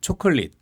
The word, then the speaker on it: 초콜릿: 이런 단어 이제 보면 어떤 단어가 있냐면 초콜릿. 초콜릿은 자 다시 해볼게요. 초. 초. 오라고 했습니까? 요라고 했습니까?